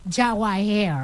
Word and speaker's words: Jawahir: It's Jawayar. It's just very Jawahir. Jawahir. Right.